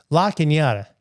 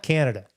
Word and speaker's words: La Cañada: La Cañada, not Canada.